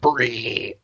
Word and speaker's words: brie: brie oh right on you said it wrong it's white sauce and brie brie but yeah that was